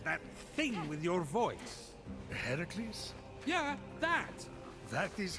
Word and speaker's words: Heracles: you doing there that thing with your voice heracles yeah that that is how it's supposed to be pronounced seems like a loving word but it's